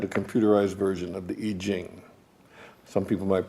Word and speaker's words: I Ching: One day, sitting at the computer, I had a computerized version of the I Ching. Some people might pronounce that the I Ching, but it's ancient Chinese fortune-telling thing.